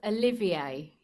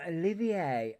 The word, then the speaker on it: Olivier: Sorry, I just needed to say it's pronounced Olivier. Oh, Olivier.